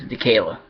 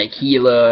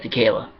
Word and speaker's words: Dekayla: Shadow's father's name is, Dekayla. Not Aquila or anything like that, Dekayla.